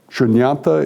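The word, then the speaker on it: शून्यता: Shunyata is what it's, how it's pronounced in both the Pali and the Sanskrit. The spelling's just a little bit different.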